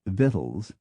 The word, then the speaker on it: victuals: surprised to learn that the correct or at least historic pronunciation of waste coat is weskit of victuals is vittles of forehead is forid and of comp troller